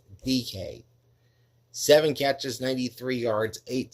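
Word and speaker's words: Dike: It's spelled D I K E, but it's pronounced DK.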